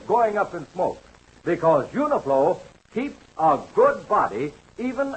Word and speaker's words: Uniflow: Now, that's why I want you to tell your dad about Uniflow motor oil. Uniflow is sold in sealed cans at all service stations. It's spelled U N I L O.